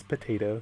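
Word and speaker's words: PT8O: So his name is Potato, so it's spelled PT8, the number 8, and then O.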